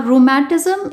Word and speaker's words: rheumatis: In the first line, it says rhu, whereas in the second line, it says matis. Taking both the parts together, it is pronounced as rheumatis, which means rheumatism.